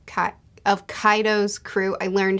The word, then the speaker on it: Kaido's: also i really love the power dynamics of kato's cut of kaido's crew i learned how to say it now